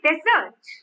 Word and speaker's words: desert: a dry place desert and when i say desert desert so the stress is on the stress is on the second syllable deserts now here it